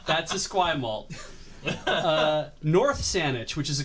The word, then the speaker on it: Esquimalt: So Esquimalt. That's how you pronounce that.